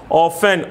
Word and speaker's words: often: ऑफ्टन, OFTEN, ऑफ्टन, ऑफ्टन बोलते हैं लेकिन ऑफ्टन पढ़ते हैं, टी साइलेंट रहता है, हमेशा प्राय.